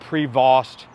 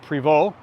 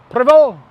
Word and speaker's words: Prevost: It's not Prevost, even though it's an ST. It's a French-Canadian manufacturer. It's Prevost. Prevost!